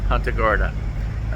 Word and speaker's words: Punta Gorda: And yes, that is how it's pronounced, Punta Gorda.